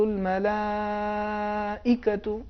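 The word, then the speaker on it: الملائكة: سورہ میں لفظ ملائکہ، اس کا صحیح تلفظ یہ ہے تنزل الملائکۃ، یہ نبر کے ساتھ ہے. لیکن اگر نبر نہ ہو تنزل الملائکۃ، اس میں نبر نہیں ہے. تو ہمیں نبر ہر حال میں ادا کرنا ہے، چاہے وہ ساکن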